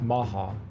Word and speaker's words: Omaha: The Omaha, pronounced Maha, and Pawatami had formed an alliance years earlier to fight and defend against their mutual enemy, the Sue.